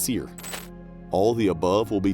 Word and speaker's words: SERE: in survival, escape, rescue and evasion, or SERE, pronounced SERE.